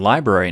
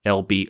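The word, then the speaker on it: LBRY: library but it's pronounced lb or it's pronounced library but it's spelled lb ry so if you want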